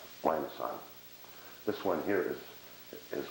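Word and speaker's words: limaçon: are called um lions that's the Soft C Lon this one here is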